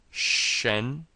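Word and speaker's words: 什: We have shh and then we have the n, which sounds like the n in taken. So we end up with shen and it's second tone.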